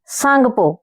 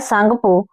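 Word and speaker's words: Tsangpo: इसे जो है ब्रह्मपुत्र नदी को तिब्बत में सांगपो यानी टी साइलेंट रहता है सांगपो और इधर जो है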